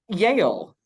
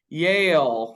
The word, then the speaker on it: Yale: the thing to do like Yale which I can't say in one syllable I make it a two- syllable word Yale let me try to say it like they do Yale I can't uh Yale is right